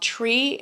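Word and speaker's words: Tris: Then we had planned a nice dinner with the family at a restaurant called Tree. It's spelled T-R-I-S.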